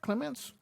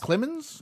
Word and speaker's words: Clemens: I think Clement said am I saying the right Clements lemons lemons Clemens I think is this Clemens is it spelled with a t or is it just Clemens yeah there's no tea did you wash your